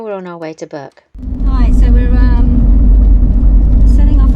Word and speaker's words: Bourke: Ridge, and now we're on our way to Bourke. Hi, so we're setting off on our journey to Bourke. Well, we're having a debate. I checked it with Big Bad Barry. Oh, it is Bourke, not Bourke.